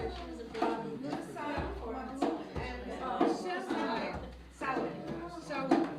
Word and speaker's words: Mabon: or Mabon or whatever, how do you pronounce it? It's either Mabon or Maboon. Mabon? Mabon or Maboon. The Celtic pronunciation is Maboon.